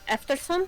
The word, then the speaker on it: eftersom: Eftersom? Yeah, eftersom. Like after, basically, but with an E, and then som.